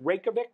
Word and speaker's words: Reykjavik: Did you find in general, am I saying it right, Reykjavik?